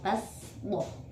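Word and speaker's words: بسطة: Dalam surat Al-Baqarah ayat 245 yaitu kata baswah tulisannya menggunakan shod, tapi dibaca dengan huruf sin, basdoh.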